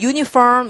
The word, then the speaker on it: uniform: 그다음에 또 university 이렇게 될 때 U라는 것도 발음기를 찾아보면 이게 J로 쓰는 이걸 쓰는데 이것도 반자음이다. 그래서 U라는 스펠링이 uniform 이런 것처럼 U로 읽을 때는 앞에다가 자 여러분 이거